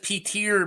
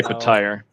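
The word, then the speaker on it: Petyr: Who here says Peter Baelish? Because those people are wrong. Yeah. I say Petire.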